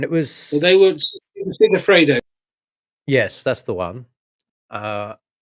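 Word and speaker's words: Segafredo: The Tolman that had the sponsor, the Sefragato, I pronounced that wrong. The coffee brand, right, along that Tolman, Yeah. and it Well, was they were Sigafredo.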